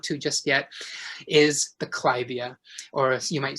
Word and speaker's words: Clivia: just yet, is the clivia, or you might say clivia, but it's actually pronounced clivia after Lady Clive, I believe.